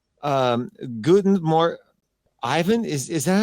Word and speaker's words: Guten Morgen: Guten Morgen. Ivan, is that how you say it? Guten Morgen?